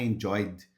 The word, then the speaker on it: enjoyed: I enjoyed. O enjoy termina com Y, tá no presente I enjoy e no passado I enjoyed. Observa que o E também aqui não fala, né?